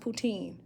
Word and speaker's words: poutine: to travel to oh putin pronounced poutine who wouldn't want mozzarella